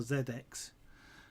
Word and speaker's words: ZX: kept changing between what he was pronouncing as and trying to decide where they should call it ZX or Zed X I was quite funny in a way obviously the different pronunciations between the English in the and the American of course given that class Sinclair was English I reckon he should have been Zed X but anyway mr.